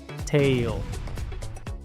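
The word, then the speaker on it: tale: Tail. Esta palabra se pronuncia tail, porque la a se pronuncia ei, la l se pronuncia ol, la e es muda.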